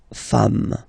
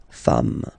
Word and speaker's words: femmes: and then you just add this S at the end, and as we said, you don't pronounce it, so you get des femmes, okay, des femmes.